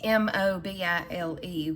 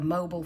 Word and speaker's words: Mobile: in and say it's m-o-b-i-l-e which normally you might pronounce mobile you know like a mobile phone but down here in